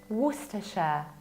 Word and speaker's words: Worcestershire: We don't pronounce middle CE, and as a result we say Worcester, Worcestershire.